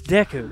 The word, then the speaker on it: Deku: the mario tiger right yes no it's it's deku it's it's not deku it would be an